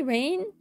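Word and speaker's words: Raine: It was spelled like R-A-I, like Rain, but then with an E. So like Rain, yeah, Rain. That's how it's supposed to, yeah, to be said.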